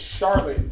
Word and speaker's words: Charlotte: shallot skyline it's sharp it's charlotte just like how you would say charlotte anywhere else yeah they do something